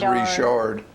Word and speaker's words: Richard: I've read this before, but yesterday I had a call from my cousin, Kathy Richard, which up here we'd pronounce Richard, but down there they pronounce it Richard.